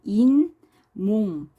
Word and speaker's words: 잇몸: 이런 때는 발음에 니은 첨가가 일어납니다. 그래서 인, 몽 이렇게 발음이 돼요.